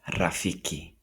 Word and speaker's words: rafiki: R is rolled lightly. R. This is as in pronounced in Rafiki.